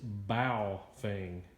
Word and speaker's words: Baofeng: thing wrong uh somebody corrected me it is bowfing uh not pronounced like that I was emphasizing the the